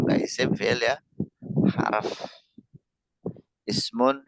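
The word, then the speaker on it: اسم: Ismun, fi'lun, harfun. Ismun, fi'lun, harfun. Itu pengucapannya dalam bahasa Arab. Ismun, fi'lun, harfun.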